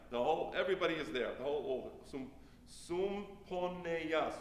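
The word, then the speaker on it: סומפניה: The whole Sumponeya. Sumponeya sounds like the word symphony, right?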